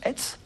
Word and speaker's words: ETHS: Alors, j'ai dit ETHS en présentation, et on prononce ETS.